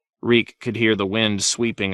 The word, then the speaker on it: Reek: Reek. I'm Reek. It rhymes with reek.